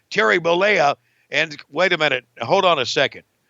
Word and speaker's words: Bollea: How do you pronounce his name? Terry Bollea.